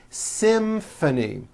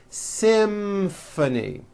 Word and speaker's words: symphony: in this next word Symphony this is a tricky one because you've got the M sound followed by an F sound Symphony and the last word